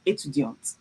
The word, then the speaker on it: étudiante: I would have to pronounce the T at the end and I will put an additional E. It would be je suis étudiante, okay?